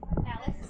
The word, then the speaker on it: Alyx: Alex.